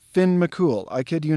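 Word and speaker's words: Fionn mac Cumhaill: this is pronounced dun leary and this is pronounced finn mccool i kid you not no you can ask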